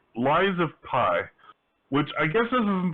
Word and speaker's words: Lies of P: um why is it or not rise of pi i keep almost every time i say the name of this game i say it wrong i have to like consciously think about it the lies of p it's a pinocchio game